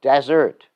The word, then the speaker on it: desert: something you eat but desert i think hear the difference in pronunciation dessert desert see the subtle difference dessert desert a desert